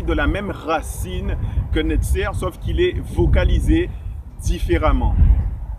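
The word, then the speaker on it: נצר: racine de 3 lettres, Nun, Sadi, Resh, qu'on prononce Netzer.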